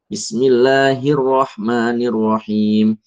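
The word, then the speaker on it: بسم الله الرحمن الرحيم: Latihan lidah itu harus pakem, nempel. Bismillahirrahmanirrahim. Bukan lebai sampai enggak ada getarnya ya. Sebagian orang tu lebai. Bismillahirrahmanirrahim. Apa itu? Enggak. Bukan kayak gitu.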